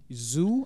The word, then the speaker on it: Hsu: get to it um Stephanie zoo I think it's how you pronounce her last name Hsu yeah uh yeah we're gonna get into it again but no Stephanie zoo I think that's how